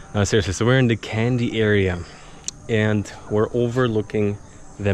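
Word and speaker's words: Kandy: here we are May candy for the longest time I'm like how do you pronounce the city is it really candy maybe candy but seems like the local state like that so let's go what was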